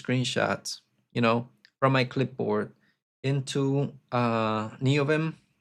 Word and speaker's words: Neovim: Because my wife thought that it was that Neobean, how is it pronounced now? I'm confused. Neovim. Okay, my wife thought that Neovim was written like this. Neo beam.